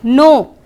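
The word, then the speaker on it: know: No. Can you recall? Okay, we'll see the word now. K-N-O-W, no. You pronounce it the same. It sounds the same.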